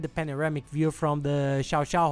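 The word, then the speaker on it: Llao Llao: panoramic view from the Xiao Xiao hotel which is spelled llau which is two house but they call it shout Chow its most incredible hotel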